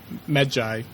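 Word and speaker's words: Medjay: so it's jury but they pronounce it like med joy alright but nope I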